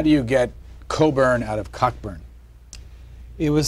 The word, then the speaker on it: Cockburn: but uh but all coburns carried this Mission through life as your name is spelled cockburn but you pronounce it Coburn um and there are